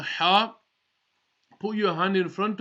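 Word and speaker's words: ح: The letter ha will be pronounced from the middle of the throat. So you might have to just squeeze the throat slightly just to get the ha properly. Now if you're wearing glasses, it's much easier.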